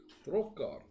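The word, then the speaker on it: Drok'Har: How do you spell that? D-R-O-K apostrophe H-A-R. H-A-R? Yeah. Drok apostrophe Har. Drokar.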